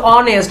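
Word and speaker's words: honest: এখানে দেখুন আমরা যখন উচ্চারণ করি তখন আমরা উচ্চারণ করি অনেস্ট, আমরা এইচ হনেস্ট করি না, আমরা বলি অনেস্ট, তাহলে আমরা উচ্চারণ করছি কিসের মতো, ও এর মতো।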